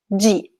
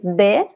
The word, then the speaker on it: de: G. This is the most common pronunciation. G. In other places, in some places in Brazil, people say de or D, but the most common pronunciation is G.